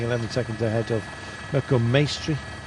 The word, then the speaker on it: Maestri: seconds ahead of welcome maestri rhymes with pastry um yeah any viviani